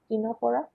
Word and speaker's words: Ctenophora: Then there is Ctenophora. C is again silent, Ctenophora.